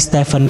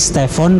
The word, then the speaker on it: Stephen: Dari Stephen Curry menjadi Stephon Curry. Jadi di sini Nike menggunakan huruf O ya, yang harusnya kan menggunakan huruf E.